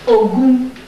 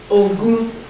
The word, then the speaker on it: Ogun: Third principle for social, third social principle for a life of victory is Ogun. Ogun. O-G. G is the Latin George. Is G or J? That's G. O-G-O-U-N. Ogun.